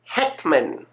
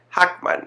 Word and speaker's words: Heckman: our good friend Joanna Heckman I hope I pronounce her uh last name right I know Maria and I were kind of doing a tug of war say Hackman no it's Heckman Hackman Hickman Hackman potato